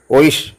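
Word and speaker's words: euch: ഇ യു രണ്ട് അക്ഷരം അത് ചേർന്ന് വരുന്നതിന് ഷ ഉച്ചാരണം വരും ഇ യു സി എച്ച് ഓയിഷ് എന്ന വാക്കിന് അവിടെ സി എച്ച് വരുന്നത് അങ്ങനെയാണ് ദി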